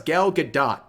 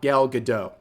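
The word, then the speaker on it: Gal Gadot: for months and months turns out it's galgadot not gal gadoo but anyways uh you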